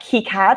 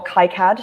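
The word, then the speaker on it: KiCad: definitely have to wrap keycad or kai-cad depending um however you like to pronounce it apparently it's a euro us thing um so kika used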